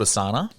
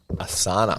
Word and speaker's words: Asana: So there's one called Asana. Asana. Have you heard of that one? Spell it.